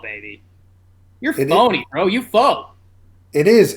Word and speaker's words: faux: You faux. It is. FAUX is pronounced faux. Oh, I'm pronouncing it foul.